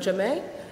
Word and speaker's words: Jamme: Starting from that end, we have Mariéme Jamme. Is that the correct pronunciation?